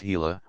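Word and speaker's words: Gila: the sluggish hila monster pronounced hila named from the hila River in Arizona which lives in the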